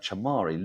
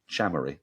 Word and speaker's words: Chamari: they got off to a flying start and chamari looked absolutely on it or should I say chamy because that's apparently the correct pronunciation but we've just been getting it wrong